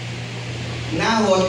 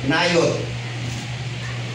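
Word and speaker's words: Naioth: Nahot ang pronunciation po niyan talaga is nayot. Yung J ay nagiging Y sa Hebrew. So tayo nahot letter J o najot o na nayot.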